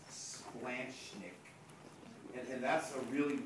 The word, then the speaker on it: splanchnic: ask you to pronounce it but it's actually pronounced splanchnick and and that's a really weird word and